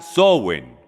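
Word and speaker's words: Samhain: de origen C llamada sn se pronuncia sowen Okay entonces sn es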